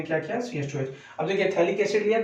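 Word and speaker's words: phthalic: ये आपका थैलिक acid है, पैथैलिक मत पड़ेगा, पी यहाँ पे साइलेंट होता है, ये थैलिक एसिड होता है।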